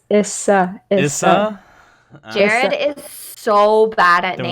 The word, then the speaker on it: Yssa: corn uh or or yisa or yasa or easter you don't even know how to say my name i've said it anyways it's issa jared is so bad